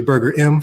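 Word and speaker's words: Burgerim: It's really Burger M for everybody, just so you know how to pronounce it.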